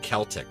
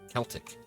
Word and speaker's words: Celtic: only time you see a CE or CI pronounced like K is reconstructed Latin pronunciation or Irish like Celtic right c l t i Celtic oh what am I